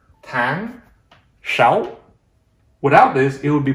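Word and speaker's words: sáu: in vietnamese when uh the letter s is pronounced more like sh sound that's one reason why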